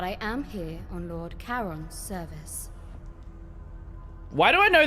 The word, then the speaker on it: Charon: How did he pronounce Charon? Karen. Fascinating, isn't it?